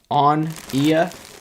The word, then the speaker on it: Onia: here you see it it's pronounced uh onia o n i a